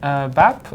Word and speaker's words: BABB: And so we just want to know a bit more about BABB. Is that the best way to pronounce it?